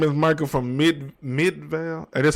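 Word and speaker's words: Midvale: That man said, "My name is Michael from Mid Midval." That's how you pronounce that.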